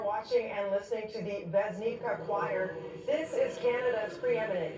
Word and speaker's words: Vesnivka: And again, the pronouncer is it Vesnivka? Pooja, you said it beautifully. Vesnivka.